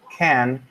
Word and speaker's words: can: So in spoken English, can is usually unstressed and pronounced can.